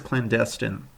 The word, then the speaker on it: clandestine: So our first word here is clandestine. And this one is an adjective. So the stress in this one is on the second syllable, so clandestine instead of clandestine.